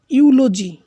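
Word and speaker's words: eulogy: ইউলজি, এখানে প্রথমে ই আছে কিন্তু ইউ এর মতো উচ্চারণ হয়েছে, ইউলজি।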